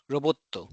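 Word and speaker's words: ロボット: So this is perceived as a short o robot robboto golf gorufu gorufu.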